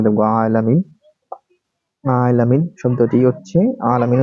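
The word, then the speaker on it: عالمين: 73 বার তারপরে দেখবো আলামিন আলামিন শব্দটি হচ্ছে আলামিন উচ্চারণ আলামিন অর্থ হচ্ছে মহাবিশ্ব অর্থাৎ আলামিন আলামিনের বহুবচন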